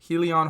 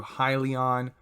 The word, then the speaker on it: Hyliion: with ticker symbol h-y-l-n helion holdings corp or if you want to pronounce it in another way as well however works best for you highly on holdings corp this was